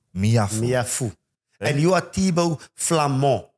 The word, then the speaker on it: Meafou: Do you just mind helping me how to pronounce his surname properly, please? Emmanuel Meafou. Meafou.